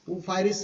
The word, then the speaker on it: Ophrys: उ फायरस उ फायरस उ फाई थोड़ा सा spelling O पी एच आर वाई एस उ फरस नाम का क्या है ऑर्किड प्लांट इसको पॉलिनेशन